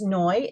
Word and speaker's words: Noi: go by noi and Noy rhymes with joy that's the easiest way to remember me I am a life